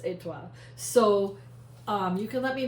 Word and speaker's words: étoile: But anyway, it is pronounced étoile.